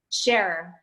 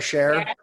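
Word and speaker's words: Schare: your last name sure is that how you pronounce that sure sure like like like the rock star Cher yeah SCH ar e Cher okay I'm gonna meet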